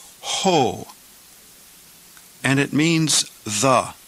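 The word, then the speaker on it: ὁ: breathing Mark over time rough breathing so we pronounce this word ho and it means the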